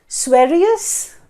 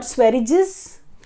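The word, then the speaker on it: Sveriges: category it is economics and the way we pronounce it is that as swarius primarily and not swearidges people pronounce it like that so swarius rich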